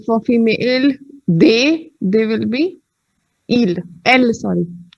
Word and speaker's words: il: That's why ILS is also pronounced as ill, and IL is also pronounced as ill.